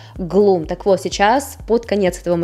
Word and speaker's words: Gloom: Я только сейчас поняла, что, оказывается, все это время неправильно произносила название этого темно-серого оттенка. Называется он вообще Gloom.